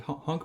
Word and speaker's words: HONC: organic chemistry that being the honk principle which is spelled h o n c and in this case